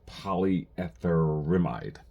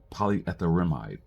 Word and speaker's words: polyetherimide: Pei is uh what it the how you pronounce this polyetherimide polyetherimide and basically it is a it's basically a